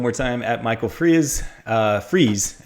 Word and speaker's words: Freas: Freas is how you say it, right? Michael Freas?